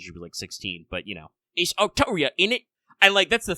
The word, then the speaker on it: Altria: it in Japanese as Arturia, and the way they write it in English as Altria don't get pronounced the same?